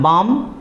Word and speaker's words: balm: तो हमने बाम को देख लिया, BALM, बाम, वहाँ पर भी एल साइलेंट है।